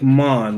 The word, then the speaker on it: manga: pronounce it was horrific it's actually pronounced more like Mon like Mon Calamari kilowatt and then God